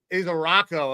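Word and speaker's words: Ezeiruaku: isui I don't isaro isaro okay so don't pronounce all the vowels um this kid generated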